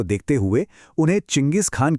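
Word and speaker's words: Chinggis: आज हम जो चंगेज बोलते हैं वो असल में इसी शब्द के उच्चारण का एक पश्चिमी तरीका है।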